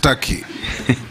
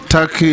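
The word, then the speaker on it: Türkiye: it's tur it's only written Tak but it's pronounced Taki thank you I that is the name of the country thank you I believe you meant the country of Istanbul and ankar yes it's called turkey in English turkey in Arabic yeah yeah that's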